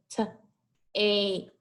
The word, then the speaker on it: tape: Well, remember this A and this word is going to say its name. It follows the vowel consonant with a silent E. So t, ape, t, ape, tape.